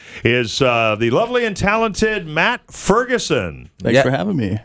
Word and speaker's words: Matt Ferguson: Friday at 420 is the lovely and talented Matt Ferguson. Thanks for having me. It's a pleasure to be here. Did I pronounce that correctly?